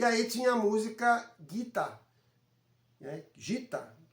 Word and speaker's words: Gita: E aí tinha a música Gita, né? gita, e a pronúncia seria guita.